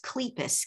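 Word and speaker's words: Kleypas: out and lisa and i think it's pronounced cleepas k-l-e-y-p-a-s she's still publishing she's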